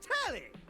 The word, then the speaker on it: Telly: The name's Telly. Rhymes with Nelly. Like, whoa, Nelly.